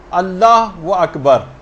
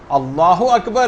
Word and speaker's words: اللہ اکبر: جو آپ کہیں گی۔ بہت سارے غلط تلفظ لوگوں کے اندر رائج ہیں، مثلا اللہ و اکبر، اللہ اکبر ہے، یہ اللہ و اکبر نہیں، اگر کوئی ایسے کہہ رہا ہے اس کی بھی نماز باطل۔ بہت سے لوگ کھینچ